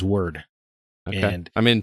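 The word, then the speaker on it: Wyrd: Hellboy web of word I definitely thought it was pronounced of weird this whole time so did I too but everyone of the game says word and I mean phonetically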